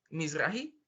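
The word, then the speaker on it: Mizrahi: que es judía pero Oriental Entonces es eh Miss rahi así se pronuncia pero como eso se puede poner a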